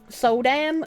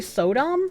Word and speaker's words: Sodom: Didn't I say Sodom, not Sodam? I'm pretty sure I didn't say Sodam. I'm pretty sure I said Sodom.